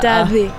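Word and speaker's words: Daði: man uttalade det, för det är någon isländsk bokstav som ser ut som ett D. Men det var typ så här the. Det skulle vara typ så här, Daddy.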